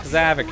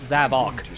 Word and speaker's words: Zavok: to attack zav here I'm calling him by his other pronunciation I hate zavok in this game he Sonic says it differently depending on the game like zic and Sonic Lost World Sav zavok here in forces I don't know why they changed the pronunciation that's just kind of